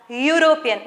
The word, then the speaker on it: European: e again is a vowel right but we pronounce this as european not we don't say european right we say